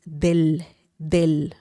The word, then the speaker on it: del: We're using del because in Spanish, when you have de él two words, de él. You don't say it like that. You don't leave it like that. You don't say de el sol. No, you have to make it one word. De él becomes del, okay?